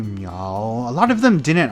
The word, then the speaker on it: Miao: she was like yeah you're pronouncing it wrong it's meow and I don't remember